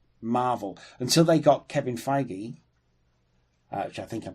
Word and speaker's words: Feige: They're not Marvel until they got Kevin Feige, which I think I'm pronouncing correctly. It is Feige, yeah.